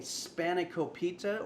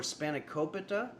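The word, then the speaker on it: Spanakopita: We're making Spanokopita or Spanokopita or Spanokopita or Spanokopita or Spanokopita. You can put you can stress whichever syllable that you want, which is true for most Greek words.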